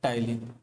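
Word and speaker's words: ptyalin: Salivary amylase या टाइलिन जो है ये बाहर चला गया है ना, स्लाइवरी अमाइलेज या फिर इसे हम लोग कहते हैं टाइलिन, पी साइलेंट है टाइलिन।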